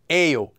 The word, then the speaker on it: 예요: you after a vowel however that Yayo is actually just pronounced as a oh so you have two